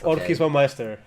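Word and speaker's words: Orcish Bowmasters: to pronounce it, and I keep on pronouncing it in the same surname of Corey Baumeister. I hope... yep. Orchish Baumeister.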